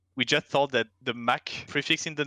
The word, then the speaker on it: Mc: And then it sounded too feminine, so I added MC in front of it, which is pronounced Mac, not MC.